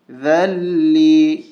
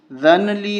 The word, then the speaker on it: ذَلِّي: کے اوپر تشدید ہے۔ ذال کو لام کے ساتھ ملائیں گے، نون کو چھوڑ دیں گے۔ اس کی ہجے اس طرح ہوگی، ذال لام زبر ذل، لام یا زیر لی۔ وَمِنْهُمْ مَنْ يَقُولُ ذَلِّي، ذَنْلِي نہیں پڑھیں گے، ذَلِّي ذَلِّي، وَلَا تَفْتِنِّي